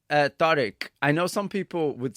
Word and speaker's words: Tariq: And you said Tariq. I know some people would say Tariq. And so there's a difference, isn't there, between Tariq, which is, I think, the proper pronunciation, and Tariq.